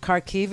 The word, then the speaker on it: Kharkiv: Kharkiv, it is not.